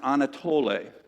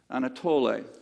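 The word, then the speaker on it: ἀνατολή: East is from a Greek word and it's pronounced Anatoly Anatoly and the translation in in Greek literally means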